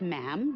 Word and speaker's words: ma'am: um and after that it's just ma'am rhymes with jim and it's always a